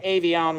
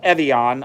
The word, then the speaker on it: Evian: I'm just dumping out a little bit of the Evian water. Sorry, it's Evian.